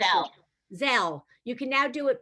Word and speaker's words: Zelle: Does anybody know how it's pronounced? I'm not sure. Zelle.